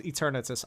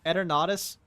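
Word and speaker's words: Eternatus: I love erus also it's not pronounced eternus I don't care what the PO company says eradus is how it's really pronounced you can't just take a Latin word and then claim that's how the Pokemon is how it's you can't just take a Latin word and change the pronunciation called it a day no it's erus that is how it's pronounced and it will not be debated end a statement at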